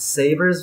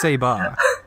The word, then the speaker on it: Saber: it, and it's got Saber's VA in it as well." Sorry, what the fuck is a Saber? It's Seba. Seba. Yeah, like Seba. It's obviously Seba, because that's how it's pronounced in the Japanese.